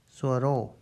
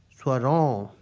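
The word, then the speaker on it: स्वरों: ro, o ki matra swaro. However, the correct pronunciation is not swaro, it's swaron. You might be able to spot the difference. Swaro and swaron. Swaro, swaron. The correct pronunciation is swaron, not swaro.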